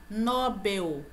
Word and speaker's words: Nobel: a pronúncia é beneficente Nobel Nobel não é paroxítona é oxítona então a pronúncia correta seria a Nobel então aqui eu tenho